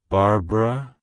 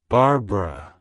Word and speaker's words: Barbara: means foreign women wild it's pronounced as Barbara Barbara Barbara to pronounce it correctly emphasize the second syllable bar